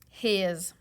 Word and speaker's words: his: and Z we know after a short vowel sound that the S is going to make a Z Sounds let's make a voice line on this so that s is going to be pronounced Z read that word his let's go to next